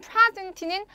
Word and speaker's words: present: 자, 이두 개의 단어, 만일 스펠링이 소리를 결정짓는다면 분명 같은 소리가 나야겠지만 그렇지 않죠. 명사로 사용된 present는 조금 전에 읽어버렸죠?